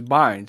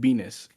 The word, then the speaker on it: Bynes: It's Bynes. He pronounced it Benis.